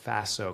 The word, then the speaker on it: FASO: so it's an acronym Faso Faso kind of rhymes with lasso and there's four elements